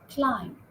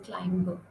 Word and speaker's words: climb: Climb. You don't say climber, right?